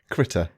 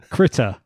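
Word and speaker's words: Krita: you keep correcting me am I saying it wrong every time Critter Critter I'll get there eventually the critor developers um so this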